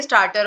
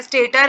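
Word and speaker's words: stator: दो पार्ट्स है हमारे स्टार्टर और रोटर स्टार्टर जो होता है स्टेटर आप इसको कहोगे इट्स एस टी ए टी ओ आर अभी तक मैं सॉरी गलती से गलत प्रोनाउंस कर ही थी स्टेटर एंड दूसरा पार्ट इज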